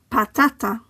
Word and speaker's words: patata: In the first word, the stress falls on the penultimate syllable as the word ends in a vowel. Patata.